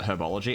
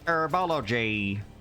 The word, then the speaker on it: herbology: but i pronounce it herbology exactly you don't say arabology what class have you got next arabology you say herbology because there's a h there herbivore exactly you